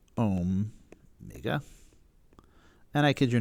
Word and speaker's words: omega: that is spelled right it's omega but it's pronounced om mega and i kid you not that's why that